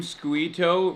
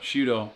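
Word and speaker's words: Sciutto: Wait, you saw CNN anchor Jim Squeito retweet it? How do you say his last name? Shudo. Okay, that's like pudo.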